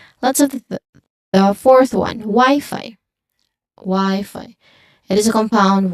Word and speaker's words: Wi-Fi: So both y and fi should be pronounced with a long i sound or a dip thong i. This one as you can see there's an i there. There's also an i in the beginning. That's a dip thong. So it should have the same dip thong sound.